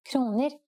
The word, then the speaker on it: kroner: In this lesson, let's see how we could answer the question by counting kroner in Norwegian. In Norway, the currency is the kroner. Please pay attention to this word's pronunciation. Kroner. Let's try to say prices in Norwegian.